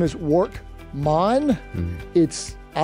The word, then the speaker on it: Workmon: Well, and by the way, his name is Workmon. Mm-hmm. I like to say it's Jamaican. Just the emphasis on the mon, the most common misspelling.